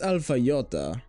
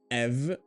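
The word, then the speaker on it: αι: This alpha iota isn't pronounced alpha iota or I. It's pronounced e. It's exactly like epsilon.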